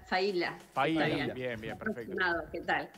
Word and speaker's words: Failla: Dijimos bien, ¿es Faila? Sí, Faila.